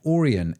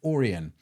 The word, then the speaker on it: Aurion: It's actually pronounced Oran. A U R I O N. Oran.